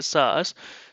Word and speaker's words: SaaS: so we typically see SAS SAS this is pronounced a sauce so SAS is secure